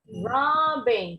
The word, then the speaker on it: robbing: Robbing, tetap bacanya B-nya nggak perlu ditekenin ya, nggak perlu dibunyinya ada jeda. Robbing, enggak, bukan ditasdid, nggak perlu. Robbing, bacanya sekali aja ya, beda dengan bahasa Arab. Kalau yang di double berarti ini ditasdid, bacanya agak ditekan dikit. Robbing, kalau bahasa Inggris enggak.